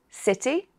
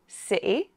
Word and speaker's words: city: Okay, so the letter T can be pronounced in different ways. With a T, city, with a glottal stop, sɪʔɪ, or with a small D, city.